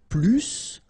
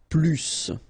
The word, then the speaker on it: plus: I will be um there is a strange thing in French language with this plus okay because in some cases you will have to pronounce the final s and in other cases